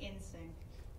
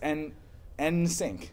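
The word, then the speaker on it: NSYNC: Sarah Lord said, Kev, that's not how you say in sync. It's N sync. It's the letter N sync, star sync.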